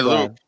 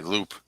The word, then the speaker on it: Loop: And this guy Loop, and that is the right way to pronounce his name, by the way, Loop.